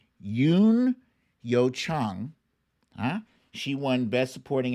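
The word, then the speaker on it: Youn Yuh-jung: land congratulations to her i got to check for the pronunciation of this lady here because everybody pronounces it wrong and i want to get it right yes it's yoon yo chang huh she won best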